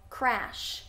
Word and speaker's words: crash: one we have is crash where would that one go crash go ahead and point you probably said it belongs on short a crash again there's no e at the end there's no box EE